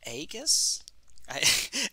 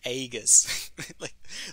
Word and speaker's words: Aegis: is an enchantment and I pronounced it think agus Aegis like I'm from the what North Midwest where they say egg egg is pronounced egg up there they do in